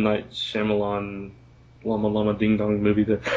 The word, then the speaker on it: Shyamalan: I was making fun of myself more than his name, but yeah, Shyamalan.